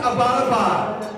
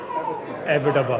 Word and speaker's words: Abbottabad: And she was like, yeah, and it's not pronounced Abbottabad. I was like, okay, well, how do you say it? She was like, Abbottabad. Abbottabad, right? Abbottabad, right?